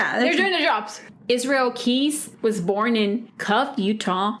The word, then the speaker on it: Keyes: His last name, Keys, it's spelled Keyes.